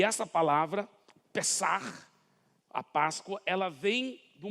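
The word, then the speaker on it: פסח: O nome daquele dia, Páscoa, que no hebraico, na realidade, pronuncia-se assim, Pessah. É assim que pronuncia-se no hebraico a palavra Páscoa.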